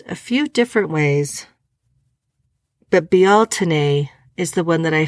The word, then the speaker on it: Beltane: a little side note on Beltane it is pronounced a few different ways but be Alton a is the one that I found to be the most common even though it's okay to say Beltane be Alton a that's how we're supposed to say it it